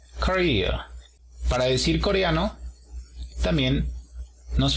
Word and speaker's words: Korea: Apóstrofo en la segunda sílaba. Korea.